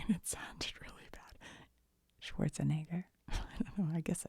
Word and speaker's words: Schwarzenegger: I feel like I said his name wrong and it sounded really bad. Schwarzenegger.